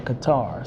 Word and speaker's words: Qatar: some of us got stuck in Doha in Qatar so or as other as some people as some pronounced in Qatar so I was one of the ones that